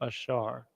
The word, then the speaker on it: Asher: thinking now Sally uh Asher pronounced ashar in the ancient Hebrew so you want to